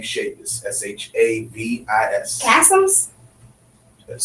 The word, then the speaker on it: Shavis: My Facebook is Kasim, K-A-S-I-M, K-A-S, last name Shavis, S-H-A-V-I-S. Kasims? Let's say it right. Kasim? Kasim? Kasim? Kasim, Shavis. Spell it one more time.